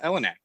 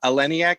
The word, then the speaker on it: Eleniak: Like, it's Elena Elenak. I had a huge crush, or Eleniak, I think is how you pronounce it.